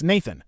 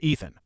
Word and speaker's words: Nathan: He says it's Nathan, not Ethan.